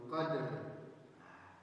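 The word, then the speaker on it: قدر: Tidak boleh kita barisi huruf dalnya fi lailatul qadar. Salah. Itu menambah-nambah ayat kita, itu menambah-nambah baris, berdosa. Maka bagaimana cara membacanya Ustaz? Caranya adalah tetap dimatikan huruf sebelum terakhir dan yang terakhir. Tapi dua huruf itu harus dapat haknya. Jadi contoh fi lailatul qadr, dapat dalnya dan dapat ro-nya. Sama dengan kalau kita baca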